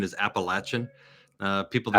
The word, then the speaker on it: Appalachian: got the the Appalachian roots and the correct pronunciation is appalachin uh people say yeah people say Appalachian um